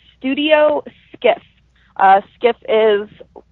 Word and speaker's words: Skiff: I have an art page that is called Studio Skiff. Skiff is like a boat. So it's spelled Sierra, Kilo, India, Foxtrot, Foxtrot.